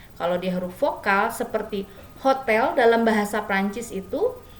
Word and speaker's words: hôtel: Kalau dia huruf vokal seperti hotel dalam bahasa Prancis itu, hotel itu adalah H-nya itu tidak diucapkan, jadi dianggap dia huruf vokal atau dia tidak ada.